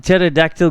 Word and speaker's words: pterodactyl: Um, why can't you hear pterodactyl go to the bathroom? Because the P is silent.